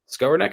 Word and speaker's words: Skowronek: How do you pronounce his name, by the way? I always screw that up. Skowronek? Skowronek. Skowronek?